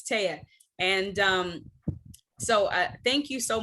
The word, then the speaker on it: Teyha: But it's Teyha. No, it's probably the way that it's spelled. It's okay. I get it. I get it all the time. I'm not offended at all. But it's Teyha.